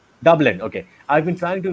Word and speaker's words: Dublin: How do you pronounce that, Saadi? Dublin. Dublin.